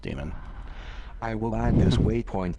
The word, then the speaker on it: daemon: Is it weird that I always thought that word was pronounced daemon? Like, okay, we're not going to call anything about computers demons, are we? I mean, it's not the 80s anymore, right? No, it's pronounced demon.